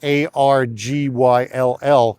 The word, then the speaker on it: Argyll: And the word Argyle actually comes from the Duke of Argyle in Scotland, only it's spelt Argyll.